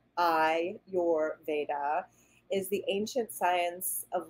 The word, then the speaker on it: Ayurveda: bit more history of Ayurvedic medicine so Ayurvedic pronounced I your Veda is the ancient science of life and healing